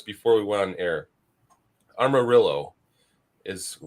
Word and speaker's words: Amarillo: Armarillo is how I believe this is pronounced, but I would think the Spanish pronunciation would be Amarillo.